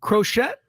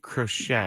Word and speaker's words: Crochet: they don't uh Garrett crochette you know who that is Garett crochet yeah I didn't know who that was it's spelled like crochet but I don't think it's pronounced that way okay who's that crochette